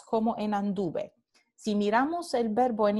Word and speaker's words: anduve: la terminación es e y se pronuncia hable entonces la sílaba tónica no es es esta en la terminación la vocal tónica está